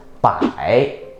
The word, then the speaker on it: 百: Hundred is 百, B-A-I, third tone.